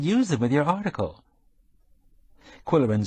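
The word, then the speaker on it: Qwill: that a lot Mr quillin for your information I'm usually called quill oh like in quill pen except that it's spelled with a qw Y said coko I'd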